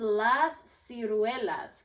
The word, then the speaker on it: las ciruelas: So this is las ciruelas. Can you say las ciruelas? Las ciruelas. Good job. That's a little harder to pronounce.